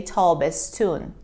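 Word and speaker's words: تابستان: is one of them taube's son becomes actually in reality we say tall bass tune tall bass tune but it is written in a different way now let's take a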